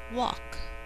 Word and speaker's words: walk: Number 13, walk. Since walk rhymes with talk, it has similar spelling.